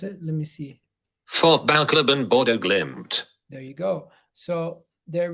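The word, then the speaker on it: Fotballklubben Bodø/Glimt: How do you pronounce it? Let me see. Fotballklubben Bodo Glimt.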